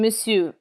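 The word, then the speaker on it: monsieur: In misu the final R is never pronounced.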